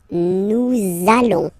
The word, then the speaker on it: nous allons: between the words, so it does mean that you will have to pronounce this z sound, okay, listen to me, nous allons, okay, nous allons, that's it.